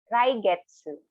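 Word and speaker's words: 来月: Raigetsu. Again, Raigetsu for next month. Now, again, slowly per syllable.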